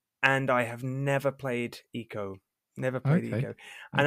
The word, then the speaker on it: Ico: I think it's pronounced Eco, Oh, right.